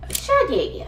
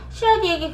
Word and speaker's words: Schradieck: First, my favorite étude is Schradieck. In Korea, people often pronounce it as “Siradique.”